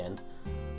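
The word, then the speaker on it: へ: It's pronounced e, but written as he.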